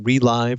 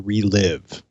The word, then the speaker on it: ReLive: The big thing though is are we calling it ReLive or ReLive? It's the Radeon ReLive application. Yeah, that is how they say it is spoken.